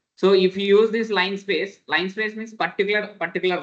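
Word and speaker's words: linspace: we can use this line space line space the spelling of line space l i by the pronunciation we are calling line space okay spelling is different pronunciation is line space okay PR okay NP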